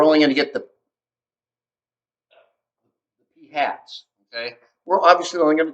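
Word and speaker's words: p̂: okay so population proportion p sample proportion is pronounced p hat i write that up here yeah called p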